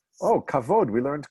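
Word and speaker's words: כבוד: The kamatz, the T-shaped vowel under the k, would be an o and not an a, and the stress accent would be on the first syllable, so it's kovid.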